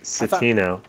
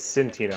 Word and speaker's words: Savino: do you pronounce it it's Savino how else did you pronounce it when we first started banging it was like I said thought it was Santino about there and in